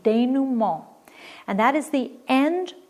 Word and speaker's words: dénouement: Number 3 is also French, and it's pronounced dénouement. It's a French pronunciation, dénouement.